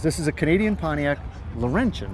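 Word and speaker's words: Laurentian: And that and this is this is a Canadian Pontiac Laurentin, right? Yes. Did I pronounce that right?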